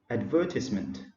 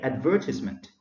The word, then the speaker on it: advertisement: Bonnie Capistrano align an advertisement so the stress is in a second syllable is on a second syllable so you say advertisement advertisement non advertisement gentle